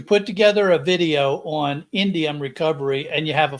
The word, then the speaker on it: Indium: I can't even pronounce it. Indium. That's Indium.